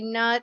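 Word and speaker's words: Neith: former incarnation of Athena, called Neat, I believe is how you pronounce it. Is that correct? Or Newt, I don't know. I think it's, yeah, Newt is kind of how I've said it. Some people say nut, some people say, you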